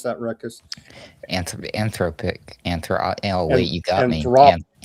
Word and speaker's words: Anthropic: CEO Sam Altman has suggested that OpenAI and other major AI firms, including Anthropic or Anthropoc, you got to teach me how to pronounce that, Ruckus. Anthropic.